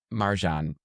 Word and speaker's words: Marjan: You know, it it's actually to be fair like the way my mom says my name is in a far seat.